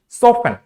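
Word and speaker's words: soften: एक ऐसा भी कॉम्बिनेशन है जहां पे STN नहीं आता है लेकिन फिर भी वहां पे टी साइलेंट होता है, वो ये है सॉफ्टन।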